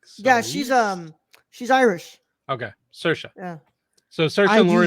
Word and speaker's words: Saoirse: Saoirse. Thank you. I Saoirse. didn't. Yeah. I'm looking at and I'm like, Yeah. Cerise. She's Irish. Okay, Saoirse.